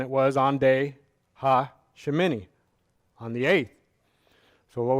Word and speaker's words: Shemini: still asleep so anyway the torah portion this week is pronounced something like shimini and it means 8th or the 8th and at the start of the torah portion in leviticus 9.